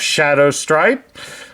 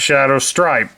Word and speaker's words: Shadowstrip: the velocitron version of Shadow stripe I hope you all enjoy it I even did his name wrong it's Shadow strip not Shadow stripe but since I don't